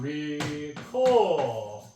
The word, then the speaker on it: recur: 근데 이게 이제 발음계로 보면은 recur. 원래 어는 약한 모음이라 액센트를 못 받는데 장모음이 되면 강한 자격을 받기 때문에 발음을 해주고 R은 영국 측에서는 발음 안 하지만 미국에서는 혀를 굴려주는 소리입니다. recur.